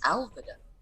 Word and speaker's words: Alvida: of lines before, but based on the scansion in this particular section, it sounds like it would be pronounced Alvida. Yeah.